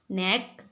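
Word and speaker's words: knee: नेक कहते हैं हम गर्दन को, गर्दन, नेक, गर्दन।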